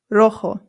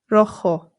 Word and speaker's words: rojo: Our next one is rojo. Rojo. Rojo. Remember that the J makes a H sound. Rojo. Good. Now, if you're wondering why there's an A right here, that's because sometimes rojo is used to describe